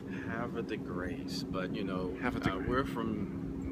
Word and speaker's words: Havre de Grace: town oh see that's we've been told hav right hav the grace but you know we're